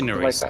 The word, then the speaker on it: yNeris: We just say yNeris. Like I ignore the Y. The Y is silent.